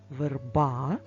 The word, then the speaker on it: верба: кожному з цих слів Одна верба наголос на букву а поставимо наголос а багато